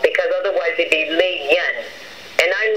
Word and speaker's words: Lilian: If you write the name with two L's, it's pronounced like a Y.